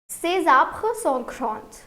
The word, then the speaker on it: ces: Do you remember the pronunciation? We won't call it as says.